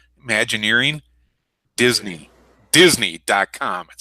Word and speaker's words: Imagineering: do you say that how do you say imagine nearing Imagineering Disney Disney com it says right across there